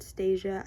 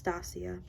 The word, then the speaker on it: Stasia: tarot by Stasia Burrington I always pronounced it Stasia and I don't know why but it's Stasia this is the fifth